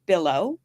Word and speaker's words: Billow: So my last name is pronounced Billow like pillow and your last name is Zitch, like stitch.